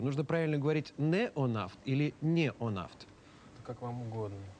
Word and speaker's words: Неонафт: Нужно правильно говорить «неонафт» или «неонафт»? Как вам угодно. А как вам угодно? Мы произносим обычно «неонафт».